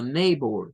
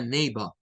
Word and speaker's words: neighbor: que yo les insistía agréguenle la r a esto y díganla como neighbor neighbor neighbor la pronunciación británica le quita el sonido de la r y Esto suena más a neiva my neiva vería un